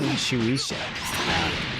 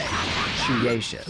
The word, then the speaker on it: Shueisha: So I was saying Shueisha and the last video, okay? And it's not pronounced Shueisha.